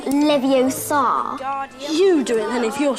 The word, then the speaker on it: Leviosa: them standing beside you you're saying it wrong it's leviosa not leviosa you do it if